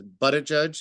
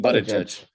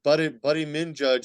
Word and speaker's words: Buttigieg: Pete Buttigieg. And they just, we've seen videos of this countless times where they're not even subtle. Like, oh, Pete Buttigieg, Buddy Min Judge, and all.